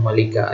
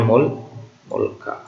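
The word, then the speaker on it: مُلْك: Mulka yang dibaca malika, ya. Ini bacanya mulka.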